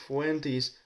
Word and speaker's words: Fuentes: Nick Fuentes. Mr. Nick Fuentes or Fuentes if we pronounce it in Spanish.